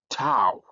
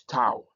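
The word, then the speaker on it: tau: Uh another letter that we have is um tao is toao and toao is written like t and it has a t sound even it is translated as t.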